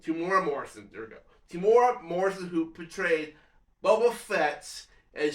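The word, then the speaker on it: Temuera Morrison: I'm sorry, it's hard for me to pronounce names. T T Timura Morrison. Timura Morrison. There we go. Timura Morrison, who portrayed Boba Fett, and showed up there as well too, and a few other people.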